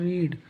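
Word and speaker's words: read: हैं तो they have रीड रीड का सेकंड फम रीड का चलता है रीड रेड रीड तो इसका मतलब की स्पेलिंग सेम होती है लेकिन इसका प्रोनंसिएशन सबका अलग अलग होता है तो य से करेंगे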